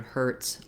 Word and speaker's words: Hertz: have in american english it's the same as how we pronounce the word hertz like my knee hurts um so we have